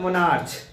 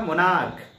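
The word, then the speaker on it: monarch: उस तरह आप नाम सुने होंगे मोनार्क, कुछ लोग उसको क्या बोलते हैं, मोनार्च, मोनार्च, मोनार्च, नहीं ये क्या है आपका मोनार्क।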